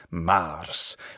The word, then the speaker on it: Mars: right and that's Mars Mars why is it a long ah well that's because it's a contraction of mar his Greek equivalent is